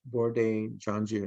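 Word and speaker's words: Bordet-Gengou: easy to remember because it's called bordeaux jeonju b-o-r-d-e-t it's part of the name bordetella bourdain john jr that's how it's pronounced or bg agar for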